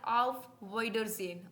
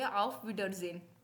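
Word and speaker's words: Auf Wiedersehen: you again या बाय को हम बोलते हैं आफ विडर जन ऑफ विडर जन क्या बोलेंगे आफ विडर जन हां मुश्किल लग सकती है प्रोनाउंस एशन लेकिन इसको बोलेंगे ऑफ विडर जन नेक्स्ट वी हैव इ सी यू टुमारो सी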